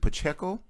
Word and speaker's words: Pacheco: Is it Pacheco?